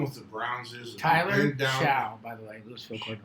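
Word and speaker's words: Shough: I just I think Howard, how do you pronounce it? Sha.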